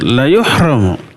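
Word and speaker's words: لَيُحْرَمُ: La yuhramu. Tadinya yuhramu saja lalu masuk huruf la. La-nya la pendek. Dibacanya pendek. Nggak boleh panjang. La yuhramu. Kalau dibaca panjang terbalik artinya. La yuhramu artinya tidak akan terhalang.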